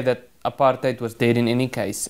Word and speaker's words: apartheid: The policy of separate development, which the media mischievously branded apartheid with the accent on the HAT, hate, That was a policy